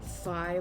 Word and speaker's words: Phi: you chose ally too fi like the greek letter like the one that rhymes with i okay okay it might